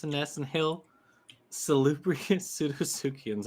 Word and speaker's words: Pseudosuchians: Hail Nero, Hail Jax, Daps and Ness, and Hail Salubrious Pseudosuchians. I like that with the silent P and salubrious.